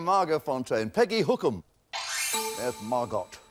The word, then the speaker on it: Margot: There's Margot. The T is silent, but not in our canteen.